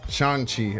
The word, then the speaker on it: Shang-Chi: Here comes Shang-Chi. Shang-Chi.